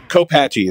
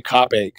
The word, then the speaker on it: Copache: h on the ground roll copache is how it's supposed to be pronounced but we always say cach that song is a